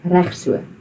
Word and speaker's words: reg so: you can just say reg so. Reg so. Reg so. So you've got to roll the R and straight after that, it's the ch, so reg so.